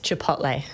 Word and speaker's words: Chipotle: so many different ways I go with Chipotle nice definitely not Chipotle though not Chipotle not Chipotle okay good good to know